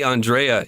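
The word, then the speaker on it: Andrei: But, I mean, I say Andrea, you say Andre throughout it, right? Yeah. And those are both apparently right, though.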